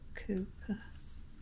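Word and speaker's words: Cowper: william cooper born 1731 spelled calper but it's pronounced cooper bent alvin was born in 1770 prince albert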